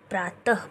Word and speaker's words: प्रातः: तो जैसे यहाँ पे देखिए दे रखा है नमः, न म अह नमः, प्रा त ह प्रातः, पढ़ने का उच्चारण बच्चों को सही सिखाएं ताकि उनको रीडिंग करने में आसानी हो।